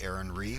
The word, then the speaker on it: Aaron Rhee: online i go by aaron rhee which is spelled just how it sounds righ all right and